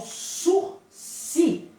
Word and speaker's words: sursis: admite osso se gente só uma curiosidade aqui de Português é de pronúncia tá sou se é a escrita sursis sushis é uma expressão jurídica oriunda do Direito francês tão suci a pronúncia aço se não surgisse tá bom posso se significa